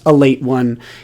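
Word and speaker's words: Ale-8-One: for pointing that out it's pronounced a late one it's written as ale 81 uh in case you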